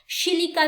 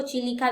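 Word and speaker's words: Chilika: तो आप लेक चिलिका को किस में देखेंगे, आप शिलिका भी बोलते हैं इसको, चिलिका भी बोल सकते हैं,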